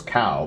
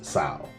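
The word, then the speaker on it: Cao: I thought it was Cow, but it's Sao.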